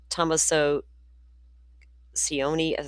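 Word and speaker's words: Tommaso Cioni: Derek Kella, who is in his mid4s, messaged Guthri's daughter Annie and son-in-law Thomaso Sion, that's how you pronounce his name, about the ailing 84year-old on Wednesday, according to the complaint.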